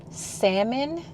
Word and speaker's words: salmon: to possibly make some salmon tonight for y'all who I'll say salmon for all you politically correct people my mom say salmon she pronounced the L so salmon I think I'm going